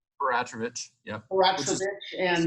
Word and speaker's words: Peratrovich: And, I'm reading up Peratrovich, is that how you pronounce? Peratrovich, yep.